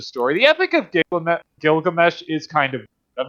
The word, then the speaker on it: Gilgamesh: possible Inspirations of the Epic of gigg because Gilgamesh why do I keep pronouncing that Gilgamesh because I think it'd be an interesting video